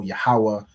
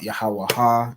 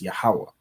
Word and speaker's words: Yahawah: the same with yahwah everyone should know yahawah it's not yahaha it's yahawah and yahawashi so you'll